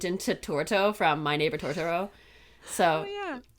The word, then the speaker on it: Totoro: torto from My Neighbor Totoro so yeah like to Toro not torto um but um correct you